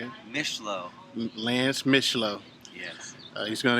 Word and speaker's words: Mishleau: Mishleau.